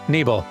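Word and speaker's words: Nibel: Welcome back to Final Fantasy 7 on Playframe and Neble, cuz yes, it's apparently pronounced Neble, which sounds kind of silly.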